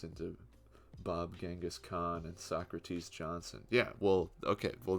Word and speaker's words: Socrates: good no right what so crates so crates Johnson that's how they pronounced it oh my gosh well